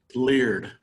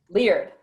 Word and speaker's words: Leard: We have Caitlin Head, Carmen Brushwood, Kelton Kemp, and, is it pronounced Laird or Liard? Leard. Leard. And Leard, which is spelled like herd, but Leard.